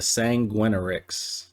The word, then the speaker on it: Sanguinarix: Fixed an issue where Pieta's animation would not play when upgrading the Sanguinarix. Yes, that's how you pronounce that.